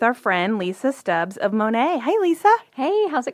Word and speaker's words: Monat: So it's pronounced Monat if you're curious.